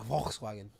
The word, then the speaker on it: Volkswagen: So If a German comes in, you gotta say it right. Volkswagen.